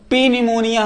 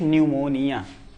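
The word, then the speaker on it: pneumonia: पी एन ई एम ओ एन आई ए इसको पी निमोनिया हम नहीं कहेंगे। क्या कहेंगे? सिर्फ निमोनिया। क्या कहेंगे? सिर्फ निमोनिया कहेंगे।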